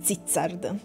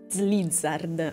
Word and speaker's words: Slizzard: Mi ci voleva proprio, ecco il nome, Zizzard. Slizzard, anzi, con la L.